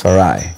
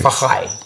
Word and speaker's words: Farai: When I was in South Africa, they don't say Farai. They say Fahai.